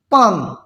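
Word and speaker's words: palm: पाम, इसको एल जो है एम से पहले आया है तो एल को साइलेंट करना है।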